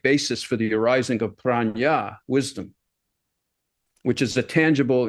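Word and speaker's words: prajna: According to the sometimes fallible internet, it's simply pronounced prana, which is how we always pronounced it, rather than the Buddhist word for wisdom, which is pranya.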